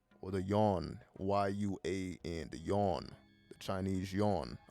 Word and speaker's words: yuan: Or the yuan, Y-U-A-N, the yuan, the Chinese yuan, I believe is pronounced.